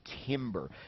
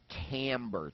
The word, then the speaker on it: timbre: It's the whole concept of timbre, spelled B-R-E, timbre. Have you ever heard that word before? You might have, and just didn't know what it was. Oftentimes you'll hear it pronounced also timbre, T-A-M-B-R-E. when you hear that word,